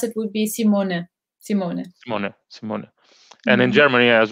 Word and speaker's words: Simone: when they speak spanish it's mostly simone so it's without the e at the end but the way the dutch people will pronounce it would be simone simone and in germany